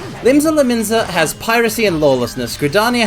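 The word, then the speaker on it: Limsa Lominsa: With Limsa Laminzi is pirate... I said it again. I gotta correct that, or I'm gonna say it like that for the rest of the time. Limsa Laminza has piracy and lawlessness,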